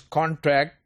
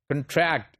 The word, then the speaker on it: contract: the stress is always given to the second syllable for example if you look at this contract its noun contract its verb convert its noun convert it's the